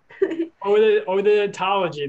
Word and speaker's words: Odonatology: Odonatology, there we go.